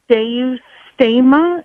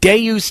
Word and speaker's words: Deus: It's just a real quick question about the pronunciation of Deu Sta.